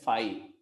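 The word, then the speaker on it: φ: Greek alphabet फाई है इसको इट इज रेड एज फाई, PHI, ये इसका प्रोनाउंसिएशन होगा। ठीक है, तो ये नल सेट का रिप्रेजेंटेशन हो गया।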